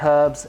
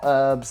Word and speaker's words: herbs: herbs in my garden yes it's herbs not herbs there is an H in there I don't know why you Americans say herbs if you want to